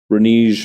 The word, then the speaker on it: renege: I might actually renege my promise on that. Is that how you say it in English? Renegar? How do you say that in English? Is it just like renge? Renege, I see.